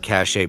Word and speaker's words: cachet: So I like the word cachet because of George Costanza.